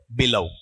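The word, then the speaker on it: below: इसका उच्चारण बिलो है या बिलव है, बिलव, लेव ऐसा।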